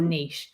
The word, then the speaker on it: niche: Niche whisperer. Yeah. And then you can spend half the interview telling people it's actually pronounced niche.